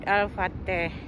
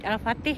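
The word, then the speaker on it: Al-Fateh: masjid ini masjid ini namanya masjid alfateh atau masjid Alfatih ya kalau kita bacanya nah ini masjidnya besar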